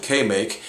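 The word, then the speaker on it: KMAK: It's actually K-M-A-K, but they pronounced it K-Make.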